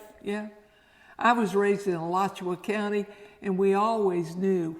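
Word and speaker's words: Alachua: me to explain to them how to pronounce pronounce that name. Yes. Yeah. I was raised in Elatchua County and we always knew when someone was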